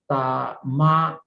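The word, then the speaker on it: Dhammajāla: The second title is called Dhammajala Sutta. Dhamma, D-H-A-M-M-A-J-A-L-A. J-A-A is long pronunciation.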